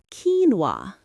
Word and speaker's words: quinoa: Quinoa. Quinoa.